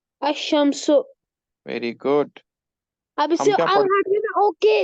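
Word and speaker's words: الشمس: good अब इससे okay इसको ऐसे प्रोनाउंस करेंगे अल नहीं नहीं करेंगे ओके अंडर हम लिखेंगे अमस अल शम नहीं बोलेंगे अमस ना हम क्या पढ़ते बेटा क्योंकि इसके ऊपर व है तद ना हम लिखते हैं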